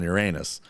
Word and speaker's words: Uranus: Get some eyes on Uranus. Mm-hmm. Which is actually pronounced Uranus. But anyway, so Neptune is one of those planets where we It's a never different hole.